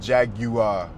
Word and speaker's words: Jaguar: We got to talk about Jaguar or Jagua, however way you want to pronounce it. You know, here in here in the States, for the most part, we say Jaguar. We hear Jaguar. You know, it just sounds fancy to us.